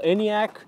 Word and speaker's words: Enyaq: various animations different animations this is how you spell anyak with a q all of skoda's high